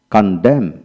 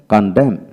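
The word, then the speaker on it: condemn: Word এর মধ্যে এম এন পাশাপাশি থাকলে এবং এর মধ্যে ভাওয়াল না থাকলে এন এর উচ্চারণ হয় না। লক্ষ্য করেন, কন্ডেম কন্ডেম CUN কন DEM কন্ডেম।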